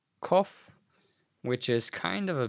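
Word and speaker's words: קוף: And you'll notice how this is actually the same sound as the letter Kaf.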